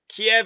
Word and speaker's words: Kyiv: kiev kiev one syllable keep is one syllable right kiev is how you say the russian version and i've heard it